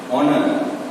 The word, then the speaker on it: honour: ऐसा कुछ और एग्जांपल्स हैं, जैसे ऑनर, HONOUR, ऑनर मतलब सम्मान। तो यहां पर भी ये एच साइलेंट हो जाएगा, ठीक है, साइलेंट हो जाएगा। ऑनर, ऑनर, एच साइलेंट हो जाता है।